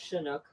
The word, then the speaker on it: Chinook: That's first of all, it's pronounced Chinook.